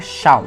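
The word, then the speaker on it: Seam: E em seguida tem um vendedor chamado Semo, mas a pronúncia é Shaw, onde ele explica algumas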